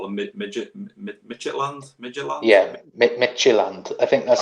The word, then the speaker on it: Midtjylland: Yeah, Midtjylland. I think that's how you pronounce it. I've been calling them Midgetland just to bypass it.